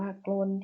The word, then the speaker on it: กรณฑ์: ได้ นะ คะ อ่ะ อย่า กรน ที่ อ่าน ว่า โกลน ที่ เอ็น ออก S